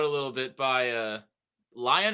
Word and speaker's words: Leon: little bit by uh lion is how you say Leon lion lion yeah it's